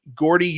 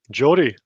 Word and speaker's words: Geordie: Not many Gordy ufologists. Good on you, Graeme. Jordy, even. Jordy. Or I said Gordy. I didn't know what I was pronouncing.